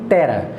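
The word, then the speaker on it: तेरह: no norte da Índia o número é pronunciado como Tera que a palavra utilizada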